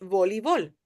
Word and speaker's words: voleibol: En Mm, español, volleyball voleibol. has EI, right? That's how it's written. En inglés, so it's like this. But when you pronounce it, you would say voleibol.